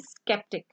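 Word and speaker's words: sceptic: को प्रोनाउंस नहीं करना, लेकिन यहाँ हमने सी को प्रोनाउंस करना है, because this is the construction of द. इसलिए तो मैंने पहले इसको हेडिंग ही इसकी कंफ्यूज वर्ड्स की दी है ना. Here is स्केप्टिक.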